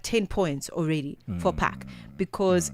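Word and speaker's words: PAQ: So is is it PAC? Is it is that how it's pronounced?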